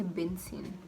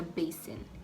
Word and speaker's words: basin: in the world like people don't say benzene it's a basin b a s i n b a is b s i n is sin basin not benzene basin basin repeat after